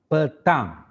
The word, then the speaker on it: petang: So open your mouth for the word ng at the end of the words.